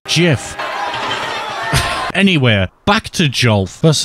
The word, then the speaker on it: GIF: that really golf or should I say a gif I shouldn't because it's canonically pronounced Jif anywhere back to Joel